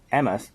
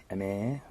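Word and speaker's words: Emer: Emma sneaks to the beach. It's spelled E-M-E-R. Emir sneaks to the beach at midnight to swim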